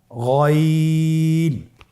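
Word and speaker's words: غين: তাহলে গাইন হরফটিও উচ্চারণ করা খুবই সহজ। গাইন হারাফটি উচ্চারণ করা অবশ্যই তিন আলিফ টেনে পড়তে হবে। এবং আমরা জানি যে গাইন হারাফটি মোটা হারাফ। অবশ্যই একটু মোটা করে বলতে হবে।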